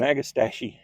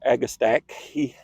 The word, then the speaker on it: Agastache: Now, this one is an Agastache or Agastache, or I've heard it many different pronunciations.